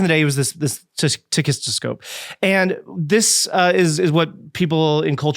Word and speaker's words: tachistoscope: What happens in the study, it's using a machine that we used to use in cognitive research called a tachistoscope.